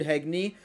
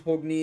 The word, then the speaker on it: Hogni: did hagney um so we've learned that hagney and or hogni depending on the pronunciation you're going with pegney is of course in danmachi Memorial freeze hogni is what the light novels actually stayed um but Hayden and